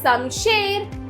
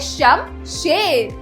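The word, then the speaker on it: शमशेर: खत्म अगला शब्द है समशेर सम शेर तो बच्चों सही शब्द है शम शेर तो इसमें श म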